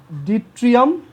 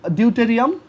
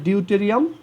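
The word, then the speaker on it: deuterium: এটাকে বলা হয়, এটাকে তখন বলা হয় তোমার উচ্চারণটা আমার ঠিক মনে আসতেছে না, এটা হচ্ছে ডিট্রিয়াম, আর যদি ডিউটেরিয়াম, আর যদি 3টা থাকে তখন সেটাকে বলা হয় ট্রিটিয়াম, ঠিক আছে। সো এটাকে বলা হয় ডিউটেরিয়াম, কারণ ওর ম্যাস নাম্বার 2, বাট তাদের দুজনেরই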